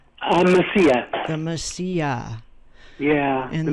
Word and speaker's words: Mesilla: Well, thank you for sharing is it the Messiah? How do you say that? Mesilla.